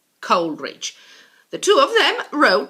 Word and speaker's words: Coleridge: worst Wordsworth and Samuel Taylor Coleridge Coleridge not call erage Coleridge the two of them